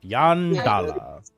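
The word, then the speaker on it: Yondalla: Y O N D A L L A. Oh, so just like it sounds. All right. Yep. Yandala.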